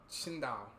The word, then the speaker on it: Qingdao: The X in Chinese is a sound. You force air through your teeth with that sound like Tsindao. Qingdao.